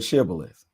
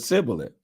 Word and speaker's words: Shibboleth: The men of Ephraim could not say that word correctly. They pronounced the word Sibboleth. So if the man said Sibboleth, then the men of